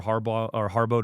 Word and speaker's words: Harbaugh: I want us to get some sacks on Harbaugh or on Brosmer this week.